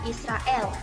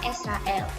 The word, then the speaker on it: Israel: Misalnya mengucapkan kata Israel harus diucapkan Israel, bukan Israel.